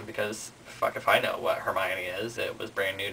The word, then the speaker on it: Hermione: discussing it and I said something about herion and she was like um you mean hermion and I was like no it's so Heron and she was like it's hermion I was like that doesn't even make sense it has to be Heron and then she was like whatever and I was like we'll just wait until the movies come out and then the movies came out and it turns out it is Hermione whatever um so I